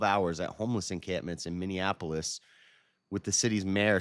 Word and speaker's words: Minneapolis: I always add an extra N in there. I say Minianapolis. That's not how you say it. There's only one. There's two N's. Minneapolis.